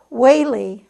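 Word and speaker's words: Whealey: It's pronounced Whaley, like President Reagan pronounced his name, E-A as a long A.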